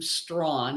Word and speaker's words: Strachan: name is and I pronounce my name strong I know it's unusual but I answered a